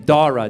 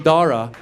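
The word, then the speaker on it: Dhara: But then she wanted to Indianize it, so she added a silent H after the D. So now it's spelled D-H-A-R-A.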